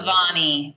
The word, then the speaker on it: Bevani: Bevani. Bevani. Bevani. Bevani. Bevani. Yes. All right, because I didn't want to mess it up. I know. A lot of people say Bevani, and That's uh, what I was going to say.